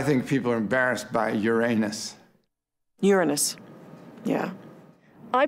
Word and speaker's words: Uranus: people are embarrassed by uranus uranus yeah i pronounce the planet's name uranus which is very likely closer to the original pronunciation of the name of the god after whom it was